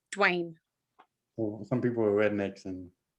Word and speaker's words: Dwayne: people on dwayne yeah it's not dull wayne it's dwayne some people are rednecks